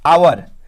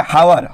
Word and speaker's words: hour: आवर, HOUR, तो इसको देखने से आप लोग पढ़ेंगे हावर, हॉ लगेगा, लेकिन है नहीं, इसका जो साउंड है वो आवर होता है।